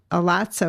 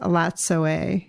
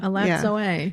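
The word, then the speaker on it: Elatsoe: book, which is adorable, which she talks about Alatso. It's actually pronounced Alatsoe. Oh, good to know. Yeah. Alatsoe.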